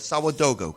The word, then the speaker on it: Sawadogo: and I hope I pronounced your name right, Sawadogo, correct? You did it right.